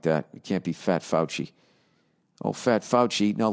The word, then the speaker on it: Fauci: you present pronounce f-a-u-c-i i was gonna say fosse who's dr fauci i know that name that's not the supreme court person who just died oh fouchy ah fouchy you gotta stay in